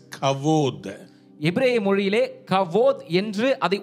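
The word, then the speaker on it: כבוד: Hebrew word kabod. Write it down. எபிரேய Kabod. வார்த்தை கபோத் என்ற அர்த்தம். Kabod means கபோத் என்றால் heavy or weighty. ஒரு கனமான ஒரு காரியம், ஒரு பொருள். In Hebrew it is pronounced as kavod.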